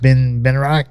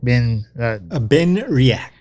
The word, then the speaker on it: Benriach: We have, how do you pronounce this Scotch? Benriach? Benriach. Benriach.